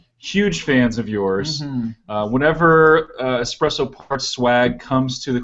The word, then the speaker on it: espresso: We have not espresso. Don't you dare spell it espresso. I love espresso. Espresso with an S. There's no X in espresso.